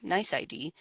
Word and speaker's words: NYC.ID: colleagues have registered in nyc.id pronounced nice ID to match the email